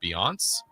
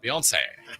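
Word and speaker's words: Beyoncé: Happy birthday today to I think it's pronounced Beiance. No. Uh, Bian. Biance. It's Italian. Bian. Beyonce.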